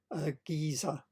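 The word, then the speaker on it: Gisze: Even paintings of merchants could contain hidden messages, and this is the merchant George Giza is one way of pronouncing his name.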